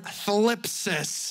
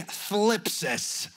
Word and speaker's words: thlipsis: Now, that word trouble or tribulation or trial, that word in the Greek language is the word thlipsis. It just sounds fun to phonetically to say. Everybody say thlipsis.